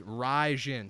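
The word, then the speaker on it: Rizin: You don't know how to pronounce shit, all right? It's Raijin.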